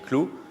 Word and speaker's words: CLU: Ça s'écrit CLU, ça se dit clou. Même si on verra l'étymologie de clou, on devrait plutôt dire cle, mais on dit clou.